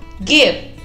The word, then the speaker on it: give: explain, explicar, give, give, hay que pronunciar muy bien la B labial, mordiéndonos la mitad de los labios de abajo, give, dar, listen, listen, escuchar,